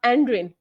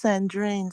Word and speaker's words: Sandrin: next to uh uh andrin am I pronouncing your name correct is your andrin or is the S silent into that no it's sandrin sandin sandrin okay yes